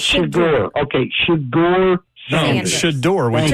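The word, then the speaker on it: Shedeur: How do you pronounce his name? That is completely disrespectful. His name is Shador. It's Shador.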